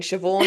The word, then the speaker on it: Siobhan: I mean, Siobhan is probably like the limit of how much my brain can like remember.